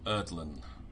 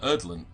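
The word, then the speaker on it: Urdlen: shrine is set up as a shrine to erdlin who is known as the crawler below it's a gnome spell that uh erdland u r d l e n that's it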